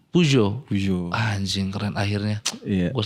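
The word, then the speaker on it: Peugeot: pijet pijet pijet iya bukan kan bukan Pujo bacanya Pujo Pujo Anjing keren akhirnya Gua selama ini gua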